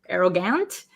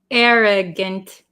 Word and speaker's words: arrogant: should be pronounced arrogant arrogant but um usually the last vowel in a word um we change it to like almost a short I sound I arrogant see how my mouth